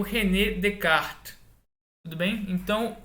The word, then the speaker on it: Descartes: de Snell-Descartes e que não se fala Descartes, né? Como o René é francês, o S é mudo, tanto da primeira sílaba, tanto como da última. Então, se fala Descartes, certo?